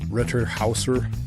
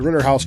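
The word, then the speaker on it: Rittenhouse: We learned late yesterday that the Ritterhauser jury, yes, I'm intentionally mispronouncing it. The Ritterhouse jury is, according to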